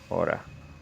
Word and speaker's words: hour: Almost 1, 2, 3, 4, 5 Aura. Is that how you say hour? Because I think H is silent, isn't it?